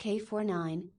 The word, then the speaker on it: K9999: First was K9999, pronounced K49, and looked like Tetsuo from Akira.